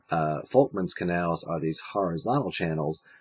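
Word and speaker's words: Volkmann: horizontal channels are called folman's canals I know you see the V there but it's actually pronounced with an F uh folman's canals are these horizontal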